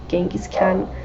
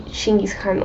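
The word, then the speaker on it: Chinggis Khan: a little while that the proper pronunciation for genis Khan is actually shingi Khan or something like that so I kind of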